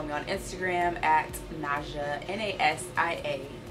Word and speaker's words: Nasia: And if you want more skin tips or more information, you can always follow me on Instagram at Nasia, N-A-S-I-A. It's pronounced Nasia.